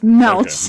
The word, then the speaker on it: Melch: that little pig guy cuz it rhymes with belch but it's with an M so it's melch melch I I honestly